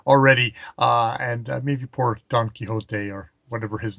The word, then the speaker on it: Don Quixote: mammoth and uh yes reading don quixote going for the uh a vague approximation of the spanish pronunciation of it uh not the british even quixotic is a word in english but don quixote i'll go with um